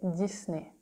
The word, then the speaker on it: Disney: we say Disney Disney here you see the S again it's not the same because in French if s is between two vowel is going to be pronounced Z if there's a vowel and a consonant it stays S sound so that's why we